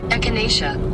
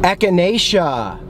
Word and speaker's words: echinacea: here we go here's how you say it echinacea echinacea echinacea okay it's got echinacea root and flower and